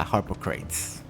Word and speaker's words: Harpocrates: Yeah, Harpocrates.